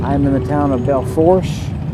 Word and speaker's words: Belle Fourche: I'm in the town of Belle Fourche, actually Belfooch is how you pronounce it, but I always say that Fourche.